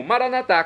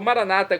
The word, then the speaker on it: maranata: E agora eu clamo maranatá, como dizemos nóss católicos, ou maranata, como dizem nossos irmãos separados, os que pertencem à comunidades evangélicas ou protestantes. Não importa, pronúncia, o significado é o mesmo.